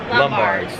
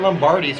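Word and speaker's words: Lombard's: Finnegan's or Lombards. We pronounced it right this time. I called that Lombardies for years.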